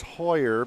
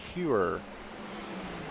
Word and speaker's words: Hewer: I thought it was Hoyer because I think of the hockey equipment company Bauer, and it's pronounced the same way.